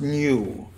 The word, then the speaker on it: nu: is the small greek letter for n which is nu pronunced nu and this is the